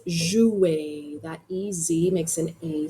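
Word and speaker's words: jouent: Okay, the N T are silent. It's pronounced joue.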